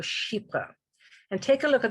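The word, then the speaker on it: chypre: or be familiar with is a category called sheepa and take a look at the way it's spelt it's spelled c-h-y-p-r-e-s which is based on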